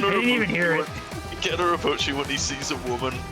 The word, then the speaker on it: Gen Urobuchi: Didn't Yurikabuchi make that, or how you pronounce it? Gen Urobuchi, yeah.